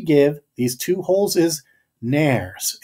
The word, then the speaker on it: nares: The name that we give these two holes is nares. It's helpful to know that the world rhymes with fairies.